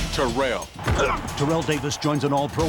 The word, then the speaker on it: Terrell: And it's pronounced Terrell.